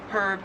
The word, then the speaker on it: herb: In American English, herb, you just don't pronounce the H at all. And in Australian English, it is herb, you do pronounce the H.